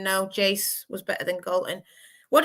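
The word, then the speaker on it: Geyse: a bit afraid, because I think a lot of commentators and fans seem to get her name wrong. So so it's Jace, Jace, yeah, not not Hazel, Jay Z.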